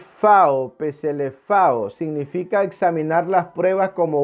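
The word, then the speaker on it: ψηλαφάω: La palabra palparon nuestras manos es una palabra griega que se pronuncia más o menos así. Peselefao significa examinar las pruebas como un forense.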